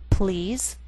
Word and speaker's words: please: For example, please and police. The first is one syllable, and the PL blend together.